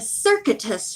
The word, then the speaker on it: circuitous: Suggested that Dan take a circuitous route to Triple Creek Farm to throw off pursuit by their enemies.